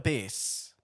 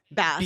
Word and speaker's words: bass: It's not a base, but it's the same word, and that confuses my dyslexia. I know, but it's bass is how it's said. Like bass when you go fishing. Like when when the men are like this, they hold on. Like an ass with a B.